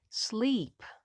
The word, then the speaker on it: sleep: special sound slow slow and now we have two vowels together when two vowels go walking the first one does the talking and the second one is silent and the first one is long sleep sleep the next one